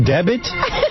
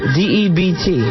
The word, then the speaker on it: debt: A special debit? Debit? Spell the word. D-E-B-T. All right, now spell it out. Sound it out. Debt. What is that word, D-E-B-T? Debt. Debt. Debit.